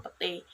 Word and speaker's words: petai: kata ramai diucapkan ramai petai diucapkan pete perubahan ini terjadi pada